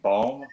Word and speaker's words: Bome: I don't know how you pronounce her name. Bome. BOME. Yeah, it's a bomb.